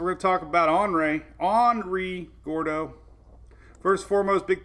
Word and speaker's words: Henri: Henri is the annoying, it's an ornery Henry name. It's Henry with an I. The H storm. With no H in the pronunciation.